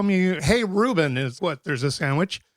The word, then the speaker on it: Rubén: No, say Rubén. See, it's very nice. But people call me, hey, Rubén, is what?